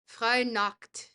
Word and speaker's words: Freinacht: And Freinacht would be pronounced Freinacht with the ch sound very guttural.